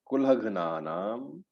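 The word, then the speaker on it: कुलघ्नानाम्: So Doshaihi, Etaihi, Kulhagnanam. Remember, it's a half gha. Kulhagnanam.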